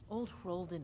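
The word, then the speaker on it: Old Hroldan: of years of History that's how you say it hen okay old hen is the stone you'll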